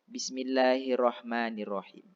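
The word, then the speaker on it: بسم الله الرحمن الرحيم: penyebutan lafaz Basmallah Hai banyak orang membaca hal ini ha kecil Bismillahirrohmanirrohim seharusnya ini ha besar menjadi Bismillahirrohmanirrohim hal ini lebih lebih tebal daripada hak kecil karena dia Hukum membacanya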